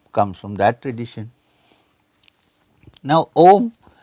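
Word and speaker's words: ॐ: from that tradition now om traditionally has been divided into two three syllables three syllables the first syllable is a as i said even a dumb person who cannot speak can say ah so ah a uh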